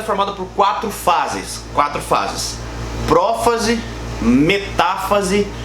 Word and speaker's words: metáfase: Só para esclarecer um negócio legal, todas essas palavras elas possuem um acento, tá? Prófase, metáfase, anáfase e telófase. Então, cuidado na hora de você pronunciar isso, porque a gente tem muito aluno que fala metafase, interfase, profase, tá bom? Tem um acento aí, beleza?